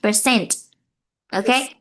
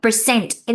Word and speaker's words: percent: You need to pronounce the ending t for me. Percent. Okay. Yeah. Percent. Can you say again?